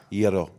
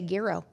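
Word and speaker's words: Gyro: So, how do you say it? Gero. See, I was going to say Gro and that's where Chattanooga is like that's not proper English.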